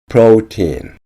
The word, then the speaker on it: protein: protein, 단백질. protein, 단백질. 프로틴을 프로테인이라고 발음하지 않도록 주의하셔야 합니다.